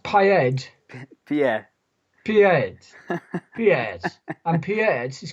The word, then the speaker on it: Pied: And how is it pronounced? Pied? Pied.